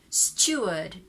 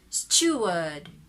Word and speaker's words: steward: has a u sound so they say s steward steward steward word steward american stored steward british steward